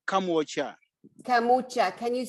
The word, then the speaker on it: Kamwokya: The slum is called Kamocha. Kamocha. Can you spell it for us? It is Kamyocha. sorry, KAMWOKYA. KOYA. Okay. Yes. Say it one more time. KAMWOKYA.